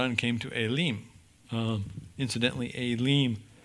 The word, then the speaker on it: Elim: Incidentally, Elim in the Hebrew would be pronounced Elimah, which means terebinth, right?